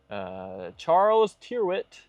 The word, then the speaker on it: Charles Tyrwhitt: Charles Tyrwhitt.